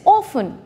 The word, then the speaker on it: often: often um which is incorrect so the correct pronunciation of this word is often moving on to the next question diagram a